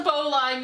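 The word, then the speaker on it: bowline: Is that different from a bow line? It's the same thing as a bow line. It's It's a bow line. You're just saying it too quickly and dropping your pronunciation.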